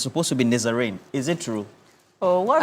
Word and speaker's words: Nazarene: Let me pronounce it for you. Nazarene. It's Nazarene.